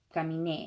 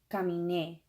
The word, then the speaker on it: caminé: not on the in, it's on caminé. So you got to really, when you're speaking it or you're reading it or whatever, you got to punch that last syllable, caminé, and make it very obvious so that people will